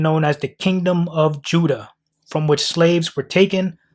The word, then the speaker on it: Whydah: The people today in this town still pronounce their town in their native tongue as Judah.